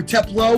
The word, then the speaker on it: Teplow: teplo we are here with teplow or teplo we'll get the correct pronunciation his really close friends and podcast hosts